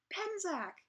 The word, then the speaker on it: Penczak: I'm here today with Christopher Penczak.